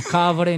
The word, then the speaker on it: Kbre: Pero no sin es cable, no es catre, no es cabre, no es cabra, no, nada de eso.